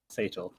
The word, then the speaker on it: Sator: Or Satchel. How do you say your name? I keep forgetting. Later. Sator.